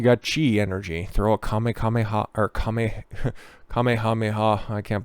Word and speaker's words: kamehameha: out here you got chi energy throw a kamehameha or kameh kamehameha i can't believe that there was some dork who ended up not pronouncing that right kamiyah mia oh my lord these people on the internet